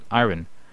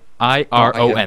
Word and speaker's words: iron: So I just saw it like, oh, iron, Yeah, you it calls it And- iron. iron. I-R-O-N. The way it's spelled, iron. Yeah, there's a silent And then R.